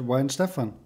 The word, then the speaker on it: Weihenstephan: worst so how is the right way to pronounce the name of your brewery yeah you did it pretty good so you said why in stefan so mine stefan wine stefan right well why